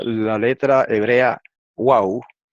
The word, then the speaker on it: Waw: la letra hebrea Waw, que en hebreo moderno se llama Vav, pero en hebreo antiguo se llamaba Waw. Y en el hebreo yemenita de los judíos yemenitas todavía se llama Waw y se pronuncia U.